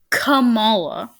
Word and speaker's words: Kamala: That's how Okay, Kamala, first of all, is how most people pronounce it, including Joe Biden.